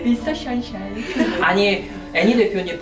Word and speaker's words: 미스터 션샤인: 미스터 선샤인. 션샤인 귀여워요. 네. 미스터 션샤인. 아니 애니 대표님 발음 지적 진짜 심하시더라고요.